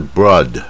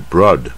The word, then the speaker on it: broad: 宽的呢，它这个字是 broad 啊，不要念成不卷舌的 broad，它是 broad，它带一点 r 的音 broad 啊，这个音一般人发不准 broad。